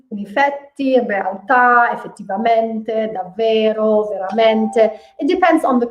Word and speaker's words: davvero: Whereas I say to you, don't pronounce the double consonant, then I don't pronounce it in Italian, but I know that I should pronounce it. So it's davvero, okay?